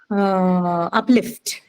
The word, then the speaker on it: uplift: Okay, the penultimate syllable B is stressed. Correct. Next is uplift.